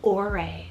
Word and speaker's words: Aure: So this is the name Aure, spelled A-U-R-E.